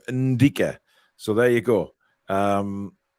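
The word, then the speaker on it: Ndicka: interested the n in and Digger isn't pronounced phonetically it's like on uh it's ndica okay so it's an African name Indica so there you go um it's not uh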